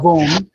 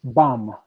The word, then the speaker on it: bomb: yes, and the pronunciation is not bomb, but it's bomb. Bam. Bomb. Okay, bomb.